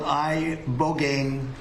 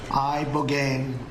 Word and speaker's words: ibogaine: injuries underwent, it's called ibogaine treatment. Ibogaine. Remember the name. Is that pronounced relatively properly, would you say? Yes. I don't want to get it wrong. Ibogaine. Body. Ibogaine. Rogaine with an ibo.